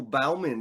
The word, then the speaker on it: Bauman: Bauman. Did I get that correct? That's probably a correct pronunciation, but we just go with Bowman. It's just, I guess, the Bowman. Southern.